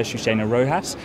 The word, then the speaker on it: Chouchena-Rojas: delighted to have been joined by uh shushina rojas of care international you're the head of global advocacy there i hope you've pronounced your name correctly yes you did well